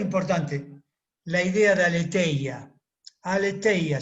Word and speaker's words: aletheia: Aletheia se escribe. A-L-E-T-H-E-I-A. Aletheia se pronuncia en griego.